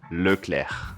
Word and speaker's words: Leclerc: Gabriel Charles Leclerc.